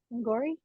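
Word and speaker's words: Angourie: Girls and in this film it stars uh angori rice is that how you say her name angori yep yeah she plays Katie and then Renee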